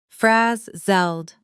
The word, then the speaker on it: frazzled: Try Try the word slowly. Frazzled. Now, at natural speed, frazzled. Notice the stress falls on the first syllable and the zled at the end is quick and soft.